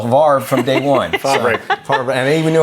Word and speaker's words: Favre: Favre, and I even knew how to say it.